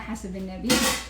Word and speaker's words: Hasebenebi: know me, my name is Hasebenebi, or pronounced Hasebenebi.